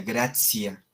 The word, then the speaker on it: gratia: Se escribe gratia, pero se pronuncia gracia, ¿sí?